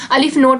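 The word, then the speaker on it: aleph null: Continuum और अलिफ नल जो है, अलिफ नोट भी बोलते हैं बहुत से, जो मैंने आपको पहले भी बताया है।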